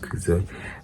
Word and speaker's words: Cootso: Yeah, sanbona, dumelang, hi, tis I, COOTSO, pronounced Kuzo, and welcome back to my YouTube channel.